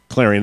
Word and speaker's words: Clarion: and beautiful whores yeah Carla it like weird pronunciations of of like places example I can rattle come on please okay Clarion yeah clearing and how's that spelled CL AR IO n